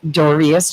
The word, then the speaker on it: Dorius: Dorius, just like it looks, is currently an active duty Marine with combat experience.